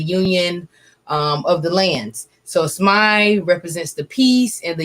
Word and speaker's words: Smai: Name of my company is Smai Pharmacy. All right, and how do you spell that again?